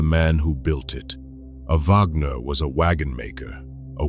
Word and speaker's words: Wagner: In German, the W is a V. Say Wagner properly, and it lands close to Va-ha-ha-ner.